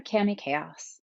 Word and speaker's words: Cami Kaos: of you says, I'm Cami Kaos. Yes, that is my name, and yes, that is also how you pronounce it.